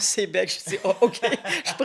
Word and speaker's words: Sayabec: Donc, quand j'ai trouvé ce bâtiment-là, puis que c'était marqué Sayabec, j'ai dit Sayabec, je connais pas Sayabec. Alors, en parlant avec mon agent d'immeuble, il dit Madame Moule, on prononce Sébec.